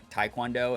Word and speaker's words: Taekwondo: It's sort of like how Taekwondo is actually said Taekwondo, not Taekwondo. But when it came over to America and it was like Romanized and put into the English alphabet, people didn't know how to properly pronounce T-A-E, so they did it as Taekwondo, and that has become like the acceptable pronunciation of it here in America, but in Korea it's Taekwondo.